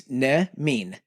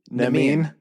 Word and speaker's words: Nemean: of pronunciation. With all due respect, sir. The Nemean. I'm trying. I know. Just think, it's Nemean. Nemean.